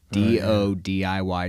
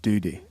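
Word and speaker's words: DoDIY: and it's not pronounced Duty no it's not pronounced Duty um and uh she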